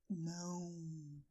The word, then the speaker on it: não: And in order to say "no" in Portuguese you say "NÃO", a little bit like our "moo" sound. The nose is going to be an active part of this "NÃO" word "NÃO".